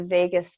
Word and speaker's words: vagus: what's referred to as the vagus nerve, and it's, kind of like Las Vegas, but it's spelled differently.